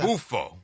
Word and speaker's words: Beelzebufo: Beelzebufo. Beelzebufo.